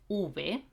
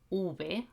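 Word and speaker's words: uve: is the letter v in spanish we call it ube ube and if you hear ube i'm pronouncing this v pretty much like a b okay and that's basically the sound of this letter in spanish v and b are pronounced exactly in the same way for example i've got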